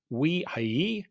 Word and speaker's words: Ujhelyi: I think you are the first one who could pronounce my family name. It's not easy. It's a Hungarian name.